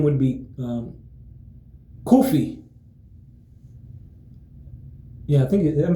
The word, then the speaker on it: Kofi: name would be um Kufi. Yeah, I think. Am I saying it right? Kufi. Kufi. Almost saying almost like saying coffee, but it's it's kofi.